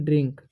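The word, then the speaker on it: drink: डी आर आई से हो जाएगा ड्री, और आई एन का उच्चारण हो जाएगा अनुस्वार के से क, तो पढ़ेंगे हम ड्रिंक।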